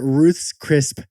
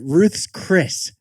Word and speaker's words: Ruth's Chris: is the experience at Ruth's crisp Steakhouse sorry Ruth's Chris Steakhouse well pronounced their stock jumped